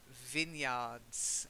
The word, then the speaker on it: vineyards: And the next one is, which you should know from the wine tasting sessions we did, vineyards. Although it is vine, on the vine, a vine, we say vineyards, okay?